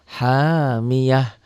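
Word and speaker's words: حامية: Hamiyah ini tak marbutoh. Jika berhenti membacanya, dan pasti berhenti di sini ya, kecuali disambung dengan ayat lain. Ini dihentikan, bunyinya berubah menjadi ha.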